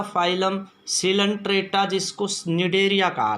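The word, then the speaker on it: Cnidaria: था phylum Coelenterata, जिसको निडेरिया कहा था हमने। क्या कहा था? निडेरिया। दूसरा फाइलम क्या था भाई? निडेरिया। ये सी साइलेंट है बच्चों इसमें, इसको निडेरिया फाइलम भी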